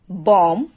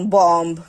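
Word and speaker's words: bomb: যেমন শব্দের শেষে যদি এমবি থাকে তাহলে সেক্ষেত্রে শেষের যে বিটা থাকবে সেটাকে উচ্চারণ করতে হবে না বা সেটা উচ্চারিত হবে না। যেমন আমরা যদি কিছু এক্সাম্পল দেখি বম ক্লাইম ল্যাম থাম।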